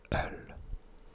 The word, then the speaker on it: øl: Öl. So as you can see, öl, there's a dash on the O, so it's the sound öl, which means beer.